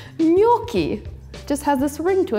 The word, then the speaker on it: gnocchi: They're spelled gnocchi, and I always thought that's how you pronounce it, but then I learned it's gnocchi. Just has this ring to it, gnocchi.